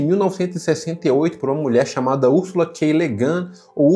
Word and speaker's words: Ursula K. Le Guin: E esse é um livro escrito em 1968 por uma mulher chamada Ursula K. Le Guin ou Ursula K. Le Guin, depende, eu vi várias pessoas pronunciando de várias formas e eu não achei